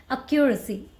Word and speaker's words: accuracy: can say okay so don't call it accuracy it's accuracy accuracy accuracy you have to make that Q sound internet right accuracy accuracy